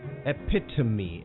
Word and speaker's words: epitome: something much less complex it sounds just as it is spelt epitome and that's how you say it right epitome epitome well speaking of